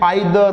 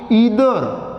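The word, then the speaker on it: either: इसको कई student आइदर, नाइदर इस तरीके से बोलते हैं, तो एग्जैक्ट प्रोनाउंसिएशन इसकी क्या होगी? ईदर, नीदर, ऐसे इसको प्रोनाउंस किया जाएगा।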